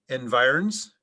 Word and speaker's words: environs: neighborhood residents of the subdivision and its immediate environs are eligible to join the neighborhood pool association there are alternate pronunciations environs environs environs environs environs to choose from may